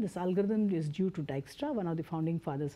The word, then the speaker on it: Dijkstra: it's not pronounced as digits try its plan said Dijkstra basically he was Dutch and that's why this Dyk e Stra ok the pronunciation is this ok IJ is pronounced as I in Dutch ok so this is